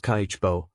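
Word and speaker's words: 家計簿: And that is where Kibbo, pronounced Kaicho, comes in.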